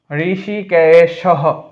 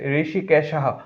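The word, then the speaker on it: হৃষীকেশঃ: পান চনিয়ম জফলার কারণে ইয় হয় জনিয়ম ঋষিকেশ ঋষিকেশহ ওটা বিলুপ্ত হয়ে হ উচ্চারণ হবে এ কারণে টানটা দিয়ে দীর্ঘস্বর বুঝাসছে ঋষিকেশহ দেবদত্তম অনুস্বার থাকলে ম হয় তাই দেবদত্তম এই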